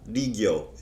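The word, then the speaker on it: 利行: Rigyo is how you pronounce that in Japanese.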